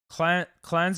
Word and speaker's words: cleanse: Cleanse is pronounced like lens.